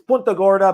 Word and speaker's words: Punta Gorda: Malachi Menzer, 6'1", 241 from Punta Gorda. I see that. Is it Punta or Punta? It's Punta Gorda, but we're all Americanized, all anglicized it.